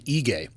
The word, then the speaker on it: Ige: Have we been saying his name wrong the entire time? Yes. Because Rogan keeps saying Ige. Yes. That's how you say it. And the first few times he said that, I may or may not have texted him and been like, hey, you're saying this wrong?